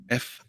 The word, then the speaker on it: Fuchs: So up next, the new man on the block, Christian Fuchs, Fuooks, if you want to pronounce it. That's what I am being told.